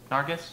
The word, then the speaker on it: Nargis: Is that how you pronounce her name? Nargis? Mm-hmm. Nargis.